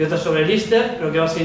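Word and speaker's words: Líster: película sobre el general Enrique Lister, se titula Lister, pronunciado Lister.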